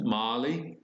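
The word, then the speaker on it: maali: is the word gold now it's pronounced Molly and you can follow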